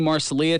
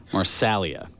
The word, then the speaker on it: Marsalia: Did I put the emphasis on the wrong syllable there? Yes. Doggone it. Marsalia. So the E sounds like an A.